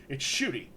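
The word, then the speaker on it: Ncuti: He's like, oh yeah, it's Shooty. It's just that.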